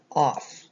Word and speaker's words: off: off the sounds are the o is for the short o sound ah and both f's together just make the one f sound remember in um our